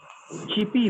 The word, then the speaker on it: chirpy: ये कहलाती है ऐसी चिपी वॉइस। क्या कहलाती है बेटा? Sir, repeat कीजिएगा. CHIRPY, CHIRPY CP wife. लिखा है चिरपी, लेकिन आर साइलेंट हो जाता है, चिपी।